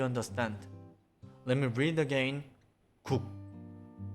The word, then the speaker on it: 국: Not saying the final K sound, you have to block the airflow and say 국 and stop. Do you understand? Let me read again. 국, 국, not 국 or 국.